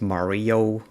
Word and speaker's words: Mario: You might pronounce it Mario, like the video game character.